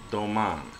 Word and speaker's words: Domaine: is progressing the AO Doan and that's only because the word is actually French so uh the e at the end is not pronounced uh um and uh